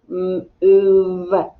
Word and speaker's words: move: with an m ooh what sound does the o make ooh like in school so it makes a double o uh you hear the v and the e is silent move all right now let's